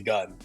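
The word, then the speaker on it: 軍: kanji our logo that the pronunciation of that word is actually gun or that's the gun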